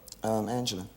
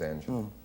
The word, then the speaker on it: Angela: I've seen it printed Angels and Angela. Which is the typo? Angela, Angie. Her real name is Angela.